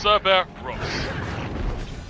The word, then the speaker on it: Cerberus: Cerber Ross. So yeah. I like it that it's a 3-syllable word.